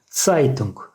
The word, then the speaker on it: Zeitung: Z harfi tısı şeklinde okunuyor. Yani ts gibi tısı şeklinde okunuyor. Zeitung. Zeitung. Yani ne Zeitung ne Zeitung. İkisinin ortasında bir ses oluyor. Zeitung.